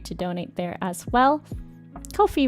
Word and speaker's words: Ko-fi: donate there as well coffee rhymes with no fee and they will be